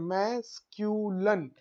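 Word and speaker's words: masculine: देखो यहां पर मैंने लिखा है कैसे प्रोनाउंसिएट करते हैं, मैस्क्यूलन, मैस्क्यूलन और फेमिनन, ऐसे प्रोनाउंसिएट करते हैं दोनों को।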